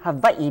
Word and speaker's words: Hawaii: It's Hawaii because in Hawaiian language, there's no V in it. There's no, that's right. The that's Hawaii. H-A-W-A-I-R, the W is pronounced as V, Hawaii.